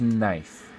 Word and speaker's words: knife: one's tricky this one's knife the K is silent and that's a tricky